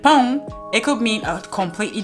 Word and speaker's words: pão: No alterations, but in Portuguese, you have to be mindful of those nasal sounds. Não or pão, because if you pronounce them differently, like pão, it could mean a completely different thing.